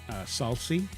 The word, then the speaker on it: Salce: So there's multiple ways of saying it. If you want to say it the American way, Right. it's Salce. Salsi?